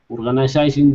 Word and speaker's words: organizing: It looks like an S, but it's pronounced like a Z.